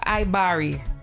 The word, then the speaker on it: Ibaria: cool so I'm going to first start with iari did I pronounce that correct yes yes bless all right